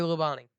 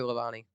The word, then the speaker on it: Labonte: that's 20 years old Bobby Labonte that's the way you would pronounce it by the way Bobby Labonte is it yeah anyways